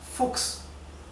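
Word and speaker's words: Fuchs: o en alemán diríamos C es que se pronuncia x como una x ejemplo de fux The F significa el zorro el animal El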